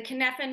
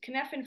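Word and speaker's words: Cynefin: the KFAN model yes it doesn't look like it's pronounced that way it is a Welch word well Welsh word the only Welsh word I can probably pronounce if I'm pronouncing it right sorry David Snowden so it's not model sorry KFAN framework David is very clear it's Conan framework that and he looks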